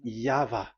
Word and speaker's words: Yahvah: Y H V H. So it is YAHVAH.